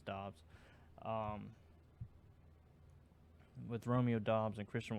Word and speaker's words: Doubs: with Christian Watson and Romeo Doubs, or Dubes, or I don't really even know how to pronounce it. I think it's Dobbs.